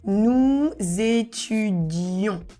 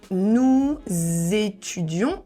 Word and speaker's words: nous étudions: So nous étudions. And once again we need to connect because ending with s and étudion start with vowel. Nous étudions. Not nous étudions. Nous étudions. And here is really nasal.